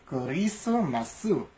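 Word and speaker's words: クリスマス: masasuad kanina yung chris magingisu dito namang Christmas kurisumasu yan po.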